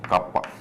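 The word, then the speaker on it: kappa: अब है ना, इसका सिंबल तो रो है, इसका सिंबल ऐसे छोटा के लिखा जाता है जिसे है ना प्रोनाउंस करते हैं कापा, KAPP कापा।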